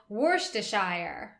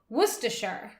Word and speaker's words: Worcestershire: You don't pronounce the R.